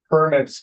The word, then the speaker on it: permit: Permits issued. Yeah, I want to restate that word with a slightly different pronunciation. Permit, as in permission, as in this is how many we allow.